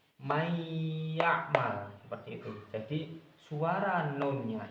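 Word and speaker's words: من يعمل: Jadi, kita enggak boleh membacanya kok man ya. Enggak boleh. Enggak boleh dalam Al-Qur'an enggak boleh kita membacanya man ya'mal.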